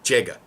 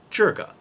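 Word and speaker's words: 这个: The first word I was told to learn was jega, which is actually properly pronounced jerga, but it means this.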